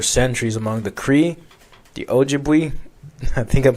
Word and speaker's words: Ojibwe: And it's been whispered about for centuries among the Cree, the Ojibwe, I think I'm pronouncing that right, and other Native American. Algebra, crazy. Bro, what? Ojibwe? That's how you pronounce it.